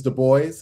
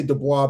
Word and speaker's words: Du Bois: Pronunciation is Du Bois. A lot of people will say Du Bois because they figure, okay, French background, what have you.